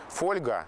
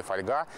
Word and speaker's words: фольга: словарь отстаивал старый вариант и например ударение фольга держал уставах очень долго когда все уже в живой речи говорили фольга и только со временем и неохотно словари сдались и зафиксировали фольгу поэтому лингвисты не то